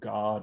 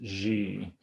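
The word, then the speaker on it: xe: um i tried to make all references to god and to jesus ungendered and so um it will refer to when it refers to jesus rather than saying he um i'll i'll pronounce it g so it's not he or she either one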